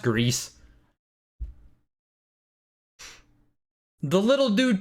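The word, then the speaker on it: Gris: yeah it's pronounced greece it's pronounced greece i'm pretty sure i know better than you guys who is the streamer here it's pronounced grease the little dude 2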